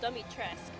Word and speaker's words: Dimitrescu: You will learn what it means to insult House Dimitrescu. Oh, Dimitrescu.